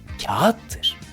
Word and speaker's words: kağıt: soruyorum Bu nedir diye çocuklar doğal olarak buna kağıt kağıt diyor bu Kelimenin doğru telaffuzu kağıttır yağışa yağış yağış Elbette doğrusu